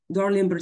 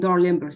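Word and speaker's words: Dalrymple: if you notice here, the word rim here, it's like sound, have the same sound like rim here in Darlimber signs, like in phonetics, so it have the same sound like the middle syllable here in this, again, once more, so rim of sclera. So we have Dar, again, rim. So I will write it down like rim in order to remember.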